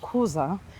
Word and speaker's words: Kuza: So they told us the correct pronunciation is Kuza, and that is where the name Cozumel derived from. So they call this place Kuza.